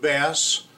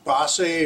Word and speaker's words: Basse: they the answer was it depends on whether you speak English or French so I'm gonna call it point bass but it might be passe or something like that